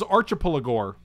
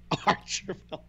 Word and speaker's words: Archipelagor: This is Archipelagor. Archipelagor. It's like an Archipelago. It's an Archipelago with gore.